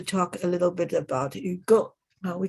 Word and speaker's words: Hugo: we have to talk a little bit about you go now we call him you go you go we sometimes would mispronounce it as hugo so of course in english now you if